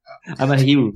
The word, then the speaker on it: Amahiru: I try to pronounce that. I keep saying it wrong. Is it Amahiru? Amahiru, yeah.